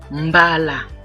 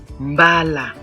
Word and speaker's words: mbala: So the same spelling but different pronunciation and different meanings.